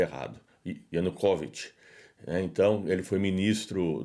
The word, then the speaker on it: Yanukovych: do presidente, né, antes de Maidan, né, o Yanukovych, eu pronunciei errado, Yanukovych, né, então ele foi ministro do Viktor Yanukovych e ele é pró-russo, então é o Yuri Boiko.